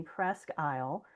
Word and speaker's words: Presque Isle: Yeah, so it says it's pronounced in a few ways, most commonly Presque Isle, rhymes with desk aisle, or Sure, okay.